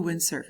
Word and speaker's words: windsurf: So basically, to do windsurf is what you're talking about when you say that. So hacer windsurf. Windsurf. Listen to the way that the I and the U are both pronounced in that.